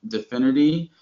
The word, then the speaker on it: DFINITY: Like infinity, but spelled with a D with no I.